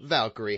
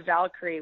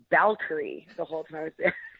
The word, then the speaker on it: Valkyrie: they they dropped the valkyrie while I was down there because obviously the bees and bees are pronounced differently in Spanish so they kept referring to me as bal curry yeah so i got